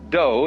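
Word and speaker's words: 道: Do is the way the Japanese pronounce Dao.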